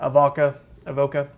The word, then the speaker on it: Avoca: Yeah, Avoca, Leetown, Brightwater, Elkhorn Tavern, Rago, Walnut Hill, and even Gateway in Clantonville.